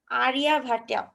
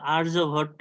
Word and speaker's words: আর্যভট্ট: Ma'am এটা আর্যভট্ট, মানে বাংলায় উচ্চারণ হবে। আর্যভট্ট হতে পারে, ওদের হিন্দি তো একটু এরকম ভাবেই বলে, জি ম্যাম। মানে ওদের হচ্ছে সব উচ্চারণগুলো আমাদের থেকে একটু আলাদা হয়।